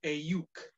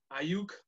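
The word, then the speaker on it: Aiyuk: Their second first-round pick, they took wide receiver Brandon Ayuk. It's the only way I know how to pronounce that. Ayuk.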